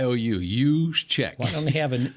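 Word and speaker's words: Juszczyk: it you Che Ju no J in there the J like a y us check why don't they have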